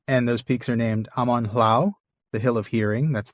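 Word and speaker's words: Amon Lhaw: Amon Hlau? Hlau? Okay. Hlau, yeah. Yeah, because the AW is pronounced the same as the AU. So it's ow, not aw.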